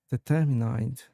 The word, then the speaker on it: determined: Determined. Sure. The word determined is pronounced as determined with the emphasis on the second syllable.